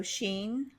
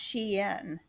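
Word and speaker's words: Shein: It's spelled sh H E I N. So, Sheen, I'm sure you've heard of it, but it's actually pronounced sheen.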